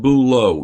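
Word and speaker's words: bulots: And I'm going to tell you right now, by the way, that I also had something called bouleau. Now, I'm just going to tell you how it's spelled.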